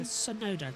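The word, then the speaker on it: Tsunoda: It's the Sonoda train, which still does work as TT because it's soda, so Sonoda. The T is silent.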